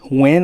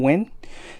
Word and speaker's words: WEN: It is a Win, I guess that's how you say it, W-E-N, Win.